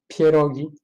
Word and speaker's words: pierogi: Well, I think there are pierogi, but that's actually not Polish food. But everyone say it's Polish, and everyone wants to eat pierogi. Actually, it's pierogi.